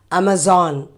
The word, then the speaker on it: Amazon: saying amazon amazon yeah actually it is amazon a so that is how it should be because these are the letters as sound so amazon it is not amazon oh sorry yeah i've heard people saying it's amazon no amazon no amazon so next